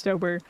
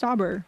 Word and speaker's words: Stober: Some people say Stauber, it's Stober. I've heard like 2 people say, I thought it was pronounced Stauber. No. He says it in one of the songs. He says Stober. It's Stober.